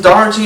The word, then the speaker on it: Daugherty: the night talk singer songwriter poet Luke Austin Doherty and my pronouncing your last name right yeah you got